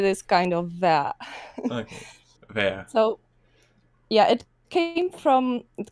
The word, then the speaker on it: Vea: by the way, it's not V, it's Ver. Ver? It's pronounced Ver.